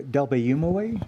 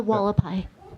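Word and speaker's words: Hualapai: you say the tribe name again the delumway? No, the walapai. Walapai. Thank you. The tribal name. Oh, yeah. Then met with a halapai. you go an H sound, then you go Walapai.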